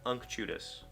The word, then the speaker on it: unctuous: But that's what the pronunciation key says, unctuous.